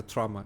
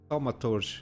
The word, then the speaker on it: Thaumaturge: It's not a trauma. It's Thaumaturge. I think it's how we pronounced on the trailer.